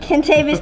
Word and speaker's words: Kentavious: Kentavious. That's how he pronounces his name.